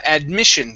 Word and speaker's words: admission: good next is uh admission give me a good short eye instead of add me admit admission admission okay very nice and last